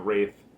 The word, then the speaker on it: Wraith: up we have uh the wrath or the wraith i believe it's pronounced the wraith uh i haven't seen